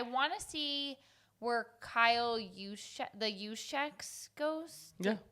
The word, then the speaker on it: Juszczyk: And my third one is I want to see where Kyle Juszczyk goes. Yeah. How do you say the last name? Perfect.